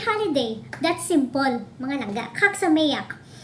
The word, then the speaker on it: Chag Sameach: Chag Sameach. Pwedeng Hag Sameach, pwedeng Chag Sameach, yung gumagaralgal. Ang CH ay pwede pong H at pwedeng KH.